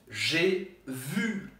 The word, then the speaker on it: j'ai vu: E aí, como é que a gente vai pronunciar o primeiro G? G. É como se fosse um J com E fechado em português. E com acento circunflexo.